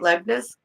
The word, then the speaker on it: Leibniz: Leibniz? Is that how you say it? Leibniz? That's very good.